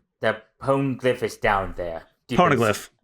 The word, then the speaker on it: Poneglyph: Poneglyph. You said it right the first time you said it.